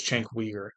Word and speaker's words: Cenk Uygur: I've heard different pronunciations. I believe it's Cenk Uygur.